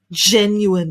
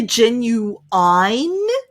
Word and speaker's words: genuine: it's 100 real it's 100 i suppose original genuine it's not a copy some people say genuine but international english is what we're learning here